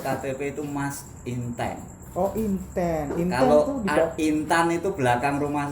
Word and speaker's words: Intan: itu mas intense so intense info kepintaran itu belakang rumah saya di Hi Ho oh Bu Intan adbm internet itu ya intense kalau dibacanya Intan apa Inten begini Inten Insan Jawa Intan rojobrono artinya